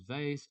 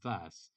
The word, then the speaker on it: vase: Okay, you can pronounce vase or vase.